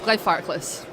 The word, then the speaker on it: Glenfarclas: Do I spell it right? You do, yes, Glenfarclas.